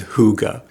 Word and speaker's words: hygge: So Hygge is actually spelled Hygge and is pronounced as Hygge.